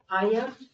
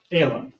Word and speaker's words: Ayla: Commissioner, is it Aya? Ayla, Ayla? yes, Now say it again so that I can listen to it over and over again when I play this back. Ayla. Ayla. 2 syllables.